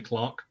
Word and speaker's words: clerk: Like technically in the UK, we don't say clerk, we say Clark.